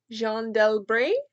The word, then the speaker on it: Jeanne d'Albret: It's a biography of, I think the French pronunciation is Jeanne d'Albret.